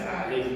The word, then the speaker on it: alaikum: You gotta open your mouth and you say alaikum, but nobody does it. Most people, I guess, we're lazy with the language. That's Alaikum.